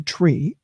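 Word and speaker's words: trie: now we're going to switch this to a try TR ie which really is pronunciate a tree ok but I wanted to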